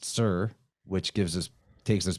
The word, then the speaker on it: Tyre: city of towers and tire by the way is pronounced sir t-y-r-e is pronounced sir which gives us takes